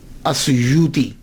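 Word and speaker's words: السيوطي: کے نام کے ساتھ۔ ایک ہے السیوطی، آسیوطی، الف کے اوپر زبر، شروع میں الف ہے، السیوطی، ابن القطب اور الشاذلی، یہ 3 ٹائٹل ہیں۔ یہ جو السیوط ہے نا، اس کے تلفظ میں 2 باتیں قابل غور ہیں۔ پہلی بات تو یہ ہے کہ اکثر الف چھوڑ جاتے ہیں، سیوطی کے علامہ جلال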